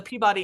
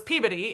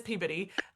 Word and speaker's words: Peabody: at Vanderbilt and like the same sometimes it's pronounced Peabody now or the Peabody Institute, but it was Peabodyy. It is Peabodyy.